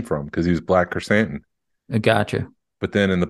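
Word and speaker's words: Krrsantan: Kersantan, not Black K. Hey, you said it right. Kersantan.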